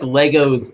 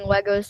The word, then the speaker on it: Lego: And then I'm also used to saying Legos like you, but it's Lego.